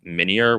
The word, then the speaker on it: Minior: I think it's pronounced Minior, which is like a meteor that floats around, but